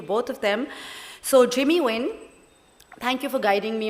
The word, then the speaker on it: Nguyen: The reason is because I was born in Vietnam and raised in the United States, and people in America cannot pronounce my last name, which is really Nguyen in Vietnamese.